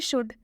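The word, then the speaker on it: should: आया हुआ है, और जब भी डी से पहले एल आएगा तो इस एल का उच्चारण हम नहीं करेंगे, इसे हम शुड पढ़ेंगे, इसे हम शुल्ड नहीं पढ़ेंगे, इसमें हम ल नहीं लगाएंगे, इसमें ल का उच्चारण नहीं होगा।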